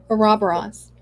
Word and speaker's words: Ouroboros: Lost their chilies is a good, how do you pronounce the word again? Because the snake we were talking about. Ouroboros.